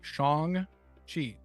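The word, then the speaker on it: Shang-Chi: Shang Chi.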